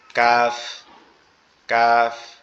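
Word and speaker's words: ك: কাফটা কোথা থেকে উচ্চারণ হবে? কাফটা হচ্ছে আমরা কফ পড়ছিলাম জিহ্বার গোড়া তার উপরে তালুর সঙ্গে লাগায়, আর কাফটা হচ্ছে জিহ্বার গোড়া থেকে একটু আগে বাড়ায়া, জিহ্বার গোড়া থেকে একটু আগে বাড়ায়া তার বরাবর তালুর সঙ্গে লাগায়া, তার বরাবর তালুর সঙ্গে লাগায়া কাফ, কাফ, কাফ, কাফ, কাফ, এরকম হবে।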